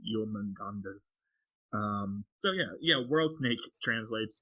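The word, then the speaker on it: Jörmungandr: But yeah, the snake itself is Yulmangander with the umlauts, but how you're pronouncing it is without the umlauts. So you're saying it correctly because the umlauts are there, but if you're going to be the Nordic correct pronunciation is Yulmangander.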